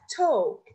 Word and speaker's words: talk: We have talk. Talk. We write L, but we don't pronounce it.